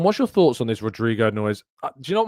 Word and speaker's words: Rodrygo: Rodrigo is spelt with a Y. There is no I in Rodrigo's name. And I'm not having a go at you, Gary. You're not the only one who's done it, but it really gets on my nerves. It's spelled Rodrygo. Okay?